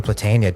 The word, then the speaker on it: Platania: All right, we're back, and today we've got Platania. Did I pronounce that right, actually?